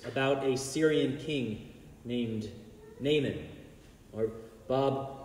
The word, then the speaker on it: Naaman: a Syrian King named naman or Bob pronounced it very well the original Hebrew was more like Naaman Naaman I'm gonna say Natan